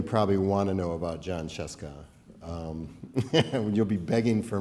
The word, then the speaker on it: Jon Scieszka: It's just like it looks. It's John. The H is silent and invisible, though.